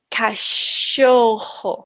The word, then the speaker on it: cachorro: fica certo o sol deste fonema é por exemplo eu vou falar chuva achar mochila cachorro certo é o mesmo fonema que vocês utiliza porém nós temos outro